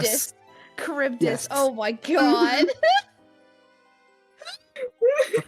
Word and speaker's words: Charybdis: I don't know how to pronounce it. The fucking monster from the Odyssey. Oh my god, Charybdis. yes. Charybdis.